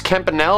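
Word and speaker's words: Campanile: the front here is St Mark's campanel or campan both pronunciations are correct the finally riveted walls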